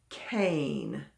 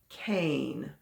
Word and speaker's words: cane: you're not very steady cane cane or it could also be like a candy cane did you write c a n e two vowels the e the silent e is on the end and we know it